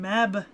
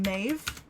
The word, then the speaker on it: Medb: ] ah yes queen meb all right well okay so we've been saying queen meb right but it's actually phonetically closer to queen maeve because meb is actually